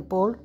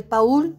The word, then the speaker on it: Paul: Este San Vicente de Paul, a veces lo pronuncian de Paul, porque puede haber sido originario de Francia, o de Paul, como le llaman los españoles, puesto que ambos países,